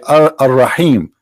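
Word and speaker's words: الرحيم: They say Ar-Rahim because this is how it's pronounced, but the fact it is Al-Rahim, Al-Rahman, Al-Aziz, Al-Muhaymin, etc.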